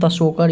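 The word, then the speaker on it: Tso Kar: जो आया है ये द शोकर है, ऐसे हम लोग तशोकर इसको पढ़ते हैं, टी से स्टार्ट होता है, साइलेंट रहता है।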